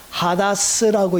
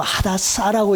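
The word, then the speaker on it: הדס: 히브리어를 하다스라고 읽기도 하고 하다사라고 읽는 사람도 있습니다.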